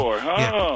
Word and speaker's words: Onyeabor: And there's this William Onyeabor. Is that how you pronounce it? Onyeabor.